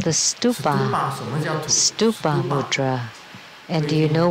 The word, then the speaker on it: stupa: Stupa. And this mudra is also the mudra for Ushina Vijaya, the stupa. You can't mispronounce it to be stupid.